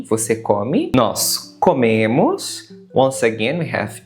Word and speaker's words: comem: Nós comemos. Once again, we have e, nós comemos. E vocês comem. Quite simple, right? Notice that coming, em, is pronounced like em, a nasal sound.